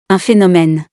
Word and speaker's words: phénomène: un phénomène, As we have seen in similarities part of this video, it has an F sound.